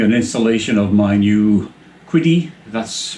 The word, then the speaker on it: Qidi: This video is going to be about the unboxing and installation of my new Qidi, that's pronounced right, X-Max Pro.